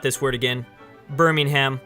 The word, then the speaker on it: Birmingham: Birmingham. That's how you say it in America.